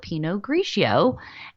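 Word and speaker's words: Pinot Grigio: for gray so that's the Italians call it Peno graio and the Germans call it grow bur Gunder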